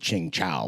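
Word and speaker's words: Tsingtao: a ice cold chingcha which is how it's actually pronounced in Chinese call I'm just saying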